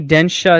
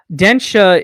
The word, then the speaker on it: Densha: So it's actually pronounced. You can say Densha attack Densha. because Densha is train in Japanese.